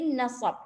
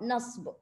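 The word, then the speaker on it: نصب: Cara baca dia, harfu maksudnya huruf, an-nasbi nasab. Matikan b tadi, nasab, nasb.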